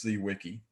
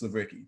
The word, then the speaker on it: Zwicky: good old dot fritz c wiki but so wiki is german and the correct pronunciation the z has a ts sound so you'll you'll hear